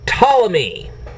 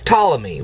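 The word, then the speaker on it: Ptolemy: heck was C Claudius tmy well he was a Greek mathematician who had Roman citizenship that's why he's known as Claudius tmy the P by the way is silent okay now what did Claudius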